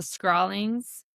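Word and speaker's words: skrælingar: come across the indigenous people and you you pronounced it right. It's the scrawlings.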